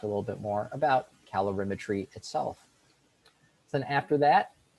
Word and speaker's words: calorimetry: about these three topics here um this is pronounced calorimetry and that's the measurement of energy measurement of